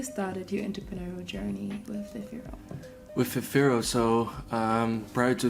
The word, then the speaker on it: Vifiro: And he's also the founder of Vifiro. I said it right.